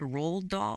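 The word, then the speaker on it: Roald Dahl: well I heard that the RO rolled is that how you pronounce it rolled doll yeah r i mean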